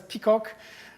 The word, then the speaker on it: PCOC: croissant pour l'ordre convexe, which acronym is PCOC, which can be pronounced as peacock.